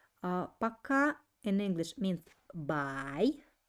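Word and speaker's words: пока: for today is again pay attention that i don't uh pronounce this like pokhara i pronounce it like pakka because letter o is without accent uh paka in english means by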